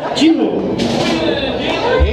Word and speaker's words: Jewell: Jewell. Like the pop singer, but we're not related.